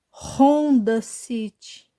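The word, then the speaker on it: Honda City: de R por exemplo como se ler esse nome Yama a Não Yamaha Como se lê esse nome onda City não Ronda cit porque essa letra tem som de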